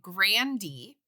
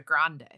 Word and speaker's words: Grande: internet says Ariana Grande her family says it Grandy and when her brother was coming up he changed it to Grande so her grand grandfather